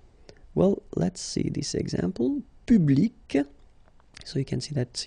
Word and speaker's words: public: Public. So you can see that you get this final C and then you pronounce it, public.